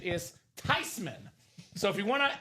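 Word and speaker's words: Theismann: It's actually not pronounced theman anyway. Proper pronunciation is Tyman." So, if you want to actually impress somebody, this name, this man's name is not Theman. Uh, it's not Thyman.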